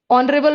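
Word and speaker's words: honorable: ऑनरेबल में भी H silent है।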